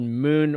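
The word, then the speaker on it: Muun: does not do kyc which is called moon wallet except it's spelled wrong it's m u u n and uh anyway so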